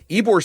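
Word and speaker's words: Ybor: There's also a Hampton Inn in Suites in Tampa Eore City. Eore is spelled Y B O R if you're not familiar with the area.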